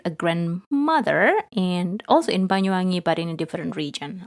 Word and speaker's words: Banyuwangi: So the oldest child in that family lived with the father's family in Banyuwangi. Can you pronounce that word?